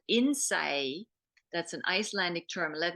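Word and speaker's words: Innsæi: from Iceland of all things and it's called Innsaei. That's an Icelandic term. Let me spell that for you.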